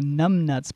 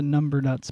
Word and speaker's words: Numbnuts: Well, I think pretty much everything was pretty correct there, except for the pronunciation of the Numbnuts band, not the Number Nuts band, but and Nevada, Missouri instead of Nevada.